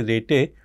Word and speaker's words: Rete: Okay, so I have a tendency to say Rete, but some people would say rate based systems, but you know, it is really not clear to me which is the correct pronunciation.